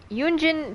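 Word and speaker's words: Yun Jin: if I'm not mistaken yunin technically the her last name is pronounced with like two syllables and not one kind of like you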